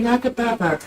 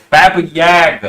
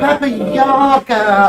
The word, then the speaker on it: Baba Yaga: Stay away from Yaga Baba. Baba Yaga. Baba Yaga.